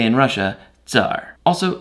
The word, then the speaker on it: Tsar: Ivan took the title Caesar, or as they say in Russia, Tsar. Also, spell it like this. It's closer to how it's actually pronounced in Russian.